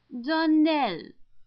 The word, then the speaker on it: Darnell: Darnell accent on the last syllable and St.